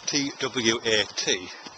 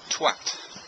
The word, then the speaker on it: twat: The word that's spelt T-W-A-T, because I'm English, I pronounce it twat. But my wife, who's American, pronounces it twat.